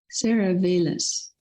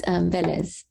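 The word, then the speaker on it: Vélez: After Velas. Where is? Can you unmute yourself? Hi, Hi. It's Velez. Like there's an accent on the first E.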